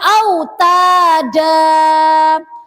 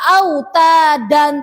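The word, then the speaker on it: أوتادا: Wal jibala autada. Tidak boleh dibaca wal jibala autadan, tidak boleh. Jadi dibacanya itu seperti mat asli atau mat tobi.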